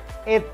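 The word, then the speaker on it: été: Ayo lo ya, et kayak kita nyebut sate tempe tape.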